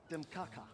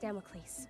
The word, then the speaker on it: Damocles: Demaka before another storm of melancholy engulfs you in dampness and misery. Doc, it's pronounced Damocles after the probably apocryphal figure in Sicilian mythology.